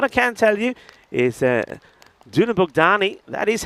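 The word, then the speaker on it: Dunabogdány: What I can tell you is Dunabukdani that is how it's pronounced by the way.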